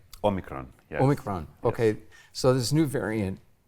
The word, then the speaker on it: Omicron: Omicron, yes.